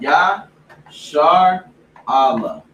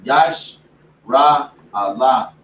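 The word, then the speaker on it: ישראל: So it's Ya Shar Allah, right? Instead of Ya or Yash Ra Allah, or however you think you're trying to pronounce it, right?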